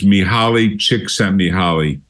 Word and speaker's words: Mihaly Csikszentmihalyi: He's got a very difficult name to pronounce. It's Mihaly Csikszentmihalyi.